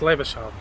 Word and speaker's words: Levisham: I was never pronouncing it right, I can never pronounce the names right anyway at the best of times. It's Levisham, I was calling it Levisham.